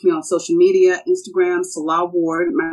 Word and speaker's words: Nselaa: Reach me on social media, Instagram, Nselaa Ward. My name is spelled a little differently. It's Nselaa Ward. The N is silent.